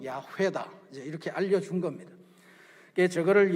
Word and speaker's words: 야훼: 할 수가 없는데 구약을 전공하신 분들이 그래도 가장 가까운 발음은 야훼다, 이제 이렇게 알려준 겁니다.